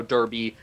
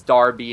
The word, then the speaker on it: Derby: England or Europe it's Darby and then when you refer to it in the United States it's become Derby CU we took a